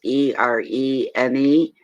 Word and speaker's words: Irene: We've got I'm going to pronounce it Irene. It's Erene.